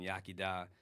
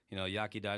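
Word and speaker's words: Iechyd da: So, Yakida, it's spelled really awkward, like it starts with an I, and a bunch of different language rules going on in Welsh, in the Welsh language.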